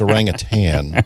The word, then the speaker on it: orangutan: Well, first of all, it's orangutan, but uh you know, I don't know what the word right first there, Mr.